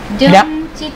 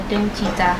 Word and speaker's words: DOOMCHITA: So now we're going to react to Secret Number DOOMCHITA. Yep. I guess that's how you say it. Okay. It's Doom and then Chita. You put it together. DOOMCHITA.